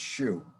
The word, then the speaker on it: Xu: chinese guy named kenny shu spelled xu but it's pronounced shu it's called the inconvenient